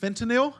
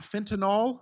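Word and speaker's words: fentanyl: I said last week it's pronounced fentinil and not fentinol. There is no O in fentinyl. Okay. So I regardless of what the news media and the politicians say, we don't have a fentinol crisis.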